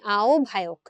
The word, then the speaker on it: আহ্বায়ক: তারপর ধরো আহ্বায়ক, এখানেও কিন্তু আমরা ও ভ দেই, আও ভায়ক, আও ভায়ক।